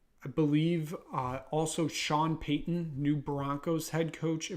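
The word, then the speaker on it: Paton: his own GM uh George Payton or even though it's spelled Patton same thing um it you know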